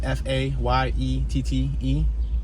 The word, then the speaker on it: Fayette: right now we're approaching fate street it's f-a-y-e-t-t-e it could be pronounced fayette but i believe it's fate street we got a grocery